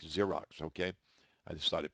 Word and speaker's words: Xerox: product, or you can, that's spelled Z, not Z, it's Xypex, like Xerox, okay?